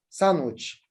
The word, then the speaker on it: sandwich: Sandwich, sandwich. I dropped the da sound in this word.